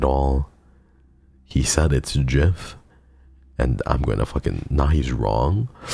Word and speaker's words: GIF: are you there he himself said that it's pronounced Jeff yeah the graphic interface format he said himself